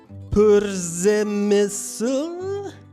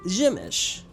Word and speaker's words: Przemyśl: Really, the only tricky part of visiting was figuring out how to pronounce Pzemysl. Nope, it's Przemyśl.